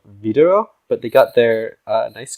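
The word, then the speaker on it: Widerøe: known to us Americans as Wildero. But I did my research, and apparently the Norwegians pronounce it something along the lines of Videro, but they got their nice green lines down.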